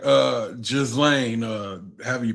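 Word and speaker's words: Ghislaine: Just call her Galain because when you say it other ways, it sounds way too close to my name and I don't like that. Galain. Yeah. Galain is how you pronounce I can call her.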